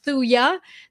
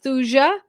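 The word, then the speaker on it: Thuja: medica is is called thuya the j is silent it's spelled t-h-u-j-a some people pronounce it thusia but uh i've i've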